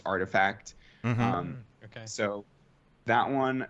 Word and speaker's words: RTFKT: uh the rtfkt studios it's actually pronounced artifact um okay so that